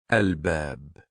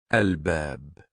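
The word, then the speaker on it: الباب: with al-ba, the door, al-bab, al-bab. We see here we easily pronounce L in the word.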